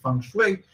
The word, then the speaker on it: feng shui: It's called flip feng shui because, you know, feng shui is like the art of, it's actually pronounced feng shui.